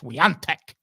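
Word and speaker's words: Świątek: it's there she inexplicably her last name is pronounced with an N it's like Phantom n yeah even though it's spelled s w a t k but that is pronounced Sant and uh that that's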